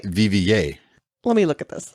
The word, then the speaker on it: Viviers: now I don't think you said it right vva let me look at this no no it's it's the it's called v-i-v-i-e-r-s but it's pronounced the vva are viviers pause okay pronunciation check you are